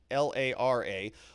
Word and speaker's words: Lara: accurate her first name is actually laura so l-a-r-a lara pomerantz she did the opening arguments so